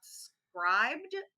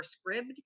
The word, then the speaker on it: Scribd: recommend it to everybody it's called scribed or scribd okay apostrophe d and i i feel like they should have a title that people know how to pronounce more easily but in any case